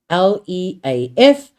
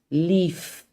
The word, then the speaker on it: leaf: If you want to know whether it's with an F or a V, pronounce it.